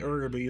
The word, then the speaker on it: Uraby: the 13th of grave Arabi more uraby depending on I think ergoby is the right pronunciation and Wasteland one of